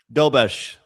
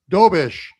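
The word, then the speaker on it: Dobeš: What How do we pronounce his last name again, Andrew? Dobish. Dobish.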